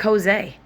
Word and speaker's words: Joses: So it's not Jesus. It's spelled like Jose. So also I'm going to say it, Jose.